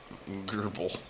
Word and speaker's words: GRBL: No, I'll figure it out on laser Gerbil. Gerbil. That's what it is. GRBL.